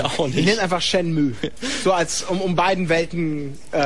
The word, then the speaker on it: Shenmue: US-Dollar das seinerzeit teuerste Videospiel aller Zeiten war, Shenmue ausgesprochen wird.